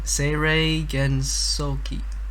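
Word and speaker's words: Seirei Gensouki: Seirei Gonsoki. Wait, send it in the chat. I'll pronounce it. We're professional. Seirei Gensoki.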